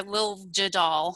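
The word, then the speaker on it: Liljedahl: a guy named peter lil jadal i think is how you say it and um the idea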